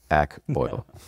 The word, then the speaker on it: Accoil: Analytics, and then all the design was, it's pronounced Accoil.